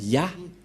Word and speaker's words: Yah: Donc, pour les Juifs, le Dieu juif s'appelle Ya, Yod et He.